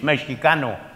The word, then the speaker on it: Mexicano: very harsh uh but Mexican actually is a mispronunciation it's Mexicano and that speaks to